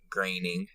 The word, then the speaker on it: Groening: How do you pronounce it? Groening.